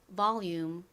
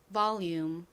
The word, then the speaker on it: volume: 이렇게 단어의 끝에 UME가 온 경우 UM은 보통 긴 소리가 나고 이는 헛개비로 소리가 나지 않는다고 말씀드렸죠. 그래서 이 단어의 발음이 volume이 됩니다. 따라해보세요. volume, volume.